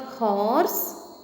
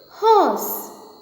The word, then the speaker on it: horse: It is not horse, it is horse. Once again, horse. Repeat it with me. Horse. It is not horse. R remains silent here. It should be pronounced as horse.